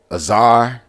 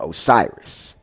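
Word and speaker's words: Asar: evil or chemic evil before you say azar which you go all you call osiris you don't even say his name correctly you call them osiris because you you you're doing things from a greek perspective you've been brainwashed you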